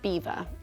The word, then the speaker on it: Belvoir: some may have noticed we call it Beaver, but in fact it's spelled Belvoir and in French Belvoir means beautiful view.